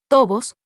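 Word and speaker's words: tovos: La I de deslizosos es como la I de amistosos, y tobos se pronuncia de manera que rime con lodos.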